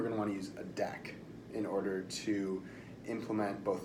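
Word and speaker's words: deque: called a deck and a lot of people pronounce this DQ it's not DQ its deck and a deck is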